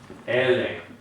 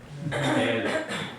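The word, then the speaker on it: אלה: But in this case, the E would be the medium length E, which is the three dots in a downward triangle, and that is the sagol. Sagol. Okay? So this is Ele. Ele. Ele.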